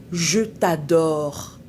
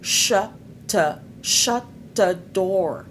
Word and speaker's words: je t'adore: En fait, le monsieur voulait dire à sa femme, "Je t'adore." Quand il voulait dire "Je t'adore", il a dit "Chat te chadore".